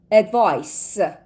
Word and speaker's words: advice: Advice. تلفظش منو نگاه کن. تلفظ کلمه دیشب بود advise صدای ز میداد ولی این یکی هست advice.